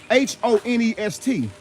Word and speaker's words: honest: because think about it look at it h-o-n-e-s-t on honest they don't even they don't even pronounce the h honest honest honest you have